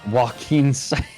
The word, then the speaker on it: Joaquin: this is this is how you spell joaquin walking yeah like joaquin phoenix joaquin psycho so